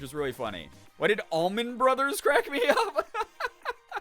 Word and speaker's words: Allman: Almond or Almond, it's Allman.